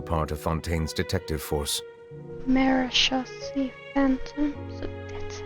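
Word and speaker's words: Marechaussee Phantom: Marishi Phantom. So that's how you pronounce it.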